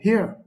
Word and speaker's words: hir: It's spelled as SIE, but it is pronounced as C, and HIR, which is pronounced as here.